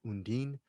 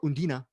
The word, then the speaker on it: Undine: to try to pronounce i thought it was initially called undine but the way they pronounce her name is undina